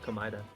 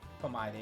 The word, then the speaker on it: Komeda: I thought it was pronounced Komaida. Komeda, it is Komeda.